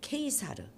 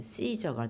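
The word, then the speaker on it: Caesar: 가이사, 케이사르, 이것을 이제 영어식으로 발음하면 시저가 되는 거죠.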